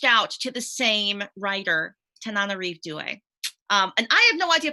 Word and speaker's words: Tananarive Due: And it's Tananarive Due.